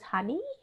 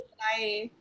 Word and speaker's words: Hanai: Did I pronounce it as honey? Honey? It's Hanai. Sorry? Hanai. Hanai? Hanai? Okay, like Japanese.